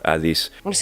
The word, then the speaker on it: Hades: And we also had to make a balance sometimes, like Hades or Adis.